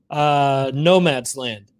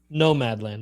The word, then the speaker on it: Nomadland: the same rig that she used to shoot Nomad's Land. Yeah. So, what's the name of the movie? Did I say it wrong? Nomadland.